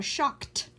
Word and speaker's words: shocked: The people are shocked by the price of gas. It's pronounced t here because of the k, kt, shocked by the price of gas.